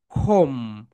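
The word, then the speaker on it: comb: তাহলে এই বিটা বাদ হয়ে যাবে, এই বি এর উচ্চারণ হবে না। এই দেখো এখানে বি, বি এটা বাদ হয়ে যাবে, রাইট প্রনাউন্সিয়েশন হবে খোম।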